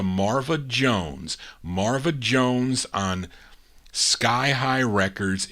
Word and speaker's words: Sky High: But here's a gal by the name of Marva Jones, and this is on, it's spelled S-K-I, but I don't think you pronounce it ski. I think it's really Sky High Records out of New York City.